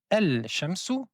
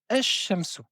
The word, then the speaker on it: الشمس: donc dans ce cas-ci on ne va pas prononcer le lam, on va prononcer deux fois la lettre shin. On ne dit pas el shamsou mais on dit ashamsou qui signifie le soleil.